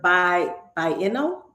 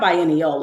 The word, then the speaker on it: biennial: He represented the United States in 2008 Venice Architecture Biennial. It's kind of hard for me to pronounce that. It's not biennial, it's biennial.